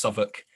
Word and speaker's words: Southwark: But the Southwark newspaper is, pronounced Southwark.